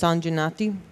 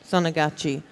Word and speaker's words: Sonagachi: But that red light district, I think it's pronounced Sanjanati. Yeah. Sonagachi, that is an absolute hellhole.